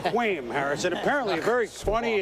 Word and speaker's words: Kwame: And by the way, it's spelled, you thought it was a relative of the Schwam, but it's Quam Harris.